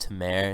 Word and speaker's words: Tamer: uh onto mayor bombs it's pronounced Tamer it's my middle name it's Turkish for God and I was [